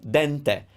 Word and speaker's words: dente: little undercooked al dente i opened up the because it's the stressed syllable dente every italian word must have a syllable that is stressed over the other ones and so dente oh ooh this one